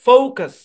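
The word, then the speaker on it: focus: একটা সিলেবল একটা সিলেবল প্রথম সিলেবলে স্ট্রেস আছে দ্বিতীয় সিলেবলে স্ট্রেস নাই যেহেতু দ্বিতীয় সিলেবল স্ট্রেস নাই সুতরাং এখানে ইউ এর শর্ট সাউন্ড হবে না এখান থেকে কি হবে শোয়া সাউন্ড হবে অর্ধ আকার মানে ইউ এর শর্ট সাউন্ড হলে ফুল আকার হইতো পরিপূর্ণ আকার হইতো এখানে অর্ধ আকার তাহলে ফোকাস ফোকাস নো কাস না ফোকাস এখন বাংলাতে তো ভাই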